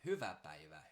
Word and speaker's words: hyvä päivä: A lot of times Hungarian and Finnish, which are a little bit related, there's always this heavier accent on the first syllable.